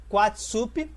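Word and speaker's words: Coatlaxopeuh: Acredita-se que Nossa Senhora tenha usado a palavra asteca, Nahuatl, Coatla Chopé, que é pronunciado Quatsup, e soa extremamente parecido com a palavra em espanhol Guadalupe.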